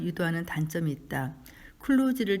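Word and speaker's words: kluge: 발음을 유도하는 단점이 있다 클로즈를 제대로 발음하자면 슬러지가 아니라 슈즈에 가깝다 몇몇 사람들은이 단어가 바깥에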